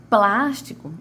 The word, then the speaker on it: plástico: Plástico, o plástico. plástico. Então, a minha sílaba a minha primeira sílaba da palavra plástico foi a que mais teve tonicidade, foi a minha de maior tonicidade, foi a que mais se arrastou, né?